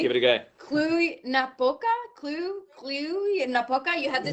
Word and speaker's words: Cluj-Napoca: You are the mayor of, I'm pretty unsure if I pronounced this correctly. Give it a go. Cluj-Napoca?